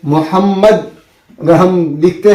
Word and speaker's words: मोहम्मद: जो होता है, तो हमको यहाँ पर मोहम्मद में हमको मीम के ऊपर तशदीद दिया जाता है। तो वो तशदीद दिया हुआ नहीं रहता है, उसको पढ़ना पड़ता है, वो अपना दिमाग लगाना